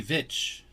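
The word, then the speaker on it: Veitch: I didn't say bitch. How do you spell it? V-E-I-T-C-H. Bitch. It's a V. V is in Victor. Oh, V. Vitch.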